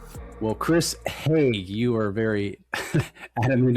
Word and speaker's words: Haigh: Well, Chris Haigh, you are very adamant in making sure that I pronounce that the long A.